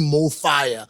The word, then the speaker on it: MoFaya: to pronounce this word, it's pronounced the same in any language, in any country, right?